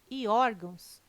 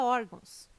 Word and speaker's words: órgãos: Caráter, intransferível e órgãos têm sua sílaba tônica na penúltima sílaba. São paroxítonas. Observação. Poderia gerar dúvida a palavra órgãos, mas ela não termina em O, termina em ão.